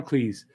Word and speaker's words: Cleese: peace shut up john cleese was uh with them yes john cleese and it's pronounced please and it really was